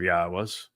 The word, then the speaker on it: Yahweh: But since your opinion is the opposite of Yahweh's, it's obvious that you speak for the very religion God despises. Ask yourself, why was I able to ascertain that Yahweh is the proper pronunciation of God's name and prove it?